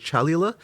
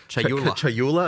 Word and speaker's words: Chayula: The acolyte of is it Chalula? Chayula. I always say this wrong.